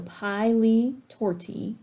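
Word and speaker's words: pili torti: um pronunciation guides here so pile torti that's how we pronounce pronounce this that's a disease where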